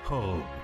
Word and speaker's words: Hope: necesariamente el pensamiento de Hub Radio Colombia. Se escribe H-O-P-E, se pronuncia Hub, significa esperanza.